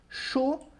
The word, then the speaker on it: chaud: Chaud, que significa quente. Som de O com D que eu não pronuncio, d'accord?